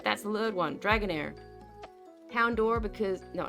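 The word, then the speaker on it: Houndour: Houndor. Because No, not Hound Doom because I love Houndor. By the way, I know it's pronounced Houndower. It makes sense. It's a hound, a da hound.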